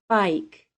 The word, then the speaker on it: bike: b i k e the I is said as a long I and the E is silent bike I do not say biker I do not need to make any sound at all for the e at the end of the word the only job of